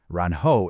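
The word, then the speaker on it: 然: The first character, ran, has a rising second tone. It starts low and it goes up almost like you're asking a question.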